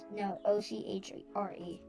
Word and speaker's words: ochre: Yeah, O-C-H-R-E.